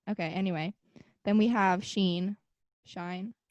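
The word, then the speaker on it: Shein: anyway then we have sheen shine i think it's sheen i tried to pronounce like i was looking up how to pronounce it and it was like she in oh i thought it was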